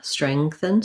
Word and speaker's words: strengthen: The STR blend at the beginning is not simple, but basically you can build from reng, treng, streng, build each one sound at a time. Then I have my NG sound, my voiceless TH, strengthen. And then I almost have no vowel here at the end.